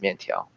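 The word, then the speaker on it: miàntiáo: No, lo mein is what you call in America, but yeah, it's mian tiao or mian.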